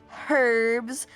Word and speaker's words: herbs: Excuse me, it's herbs. Pronounce the H, Caco.